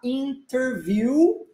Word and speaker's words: interview: última aula né job interview ou a gente omite o som do t e fala interview interview here for the job